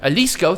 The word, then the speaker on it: Jalisco: I butchered that once again immensely. Jalisco, thank you.